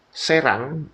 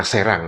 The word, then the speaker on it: Serang: Jadi dibacanya Serang ya, bukan serang. Kalau serang itu menyerang attack dalam bahasa Inggris ini serang. Serang itu nama tempat atau nama kota.